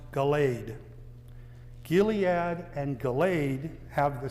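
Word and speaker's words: Galed: In some English translations, the word is spelled G A L E D pronounced Galade.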